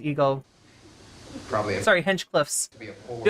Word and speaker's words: Hinchcliffe: just the air being let out from Tony Hench Field's go probably sorry Hench Cliffs how much have I been mispronouncing his name right you have to hold